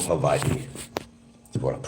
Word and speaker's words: Hawaii: beautiful spiritual place called Havi you want to pronounce it correctly it's Hawaii not Hawaiian it's Hawaii make believe the W is a v Tau you your first